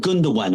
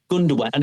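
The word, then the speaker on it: Gündoğan: And he went, "It's Ilkai Gundowan." And I went, "Who?" And he went, "Ilkai." I went, "Ilkai." He went, "Gundan." I went, "Not not Gund." He went, "No, Gundowan." He see him thinking is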